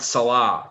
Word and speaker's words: Saleh: The great Robert Saleh, the former defensive court, or Saleh, I guess Salah is maybe a little bit too much emphasis on the ending of his name, but Robert Saleh.